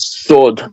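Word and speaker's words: صاد: Sod.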